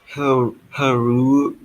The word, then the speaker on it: heureux: I think Garnet, I think that the first time you pronounce the H, okay, the H is silent here. Ils étaient heureux. However, you can't make any liaison there, okay?